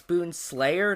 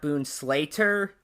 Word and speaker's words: Boon Slayer: of things first off it's Boon Slayer not Boon Slater not a big deal but I figured I will point out that you mispronounced Boon's name also the user in